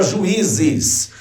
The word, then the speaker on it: juízes: Ninguém diz juízes. Você não diz isso de uma lapada só, meu amigo. Você diz separando as sílabas. Juízes.